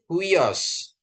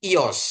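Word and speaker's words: υἱός: I huios. I ios ya. Kita sering mendengar huios gitu ya Bapak Ibu ya. Huios ya. Tapi ini bacanya ios.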